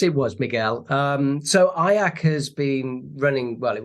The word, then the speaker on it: IACC: U the association is fondly known as aak the only word that rhymes with kayak I've been told so